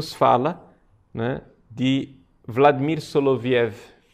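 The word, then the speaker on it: Соловьёв: fala na de Vladimir soloviev a pronúncia Na verdade seria solovioff e os três diálogos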